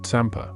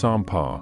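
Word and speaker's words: tsampa: The communal meals often consisting of tamper, pronounced sampar, roasted barley flour mixed with butter tea, are taken in silence or accompanied by quiet contemplation.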